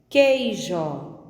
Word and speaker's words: queijo: Ouça: queijo, esquilo, leque. A letra U não é pronunciada nessas 3 palavras.